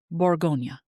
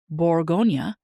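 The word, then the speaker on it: Bourgogne: Because Burgundy is the American sort of British way of saying the name. In France, it's Borgonia, right? They say Borggonia.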